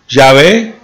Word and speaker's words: Yahvé: Yahvé, según el Consejo Académico, es la pronunciación más probable del tetragramatón.